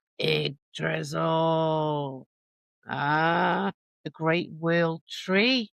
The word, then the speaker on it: Yggdrasil: The Norns, not nuns, Norns, lived beside the roots of another word I can't pronounce. Agadrezel? Yggdrasil. Yggdrasil.